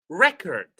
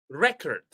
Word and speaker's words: record: If it is a noun, we stress the first syllable. For example, contact, record, record, record.